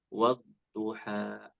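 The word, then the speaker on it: والضحى: tadi ayat pertama ya Ada agak sedikit terdengar huruf ha bukan ha waduha gitu ya harusnya bacanya wadduha seperti itu tidak ada eh tidak seperti Huruf ha ya bab kemudian di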